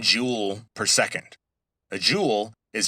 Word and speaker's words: joule: Now, e is measured in joules. Let me spell that because it sounds like j e w e l s. But, it's based on an old scientist's name, and so, his name was joule, j o u l e.